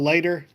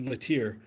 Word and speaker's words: Leiter: So we got Larry, Al Leiter, even though I always said Latier.